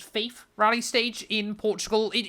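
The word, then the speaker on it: Fafe: getting the iconic uh I believe it's pronounced Faith rally stage in Portugal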